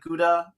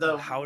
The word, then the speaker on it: Gouda: And it's funny when you were talking about how the pronunciation of the words, like Gouda, that word, Howda.